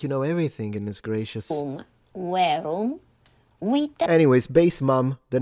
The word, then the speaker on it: verum: verum. Verum. The M is nasalized.